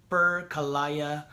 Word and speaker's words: Percayalah: Percayalah, air mata setia mengalir, percayalah, ia So it's Percayalah. That's how you pronounce it.